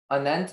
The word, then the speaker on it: anent: Anent is from English. Okay. Is there any alternate pronunciations?